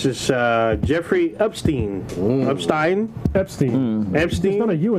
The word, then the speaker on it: Epstein: because there's an either doesn't mean it's not pronounced that way that is actually epsteen epsteen around whatever he's be